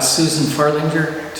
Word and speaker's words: Susan Farlinger: With that, and thank you for allowing me to introduce the chamber, we welcome Susan Farlinger here today, and I hope I've got the pronunciation of your name correct.